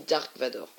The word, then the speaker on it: Dark Vador: Alors, là on voit Dark Vader, enfin Dark Vador, hein, mais ça, alors, ça s'écrit Dark Vader, mais ça se dit Dark Vador. Enfin, en français en tout cas, c'est Dark Vador.